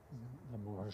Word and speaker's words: Limoges: Limoges. Hmm? It's like a J. Je. Limoges. Yeah, it's a soft G.